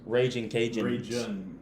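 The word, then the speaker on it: Ragin' Cajuns: It's pronounced Raging Cajun.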